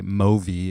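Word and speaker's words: MōVI: bottom of this slide bitly slash freefly movi is the way that you pronounce that so movi is a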